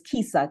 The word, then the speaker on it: KISA: The actual word is KISA, K-I-S-A.